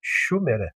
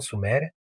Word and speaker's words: Shumer: Exceto pela pronúncia incorreta, deveria se chamar Shumere, não Suméria.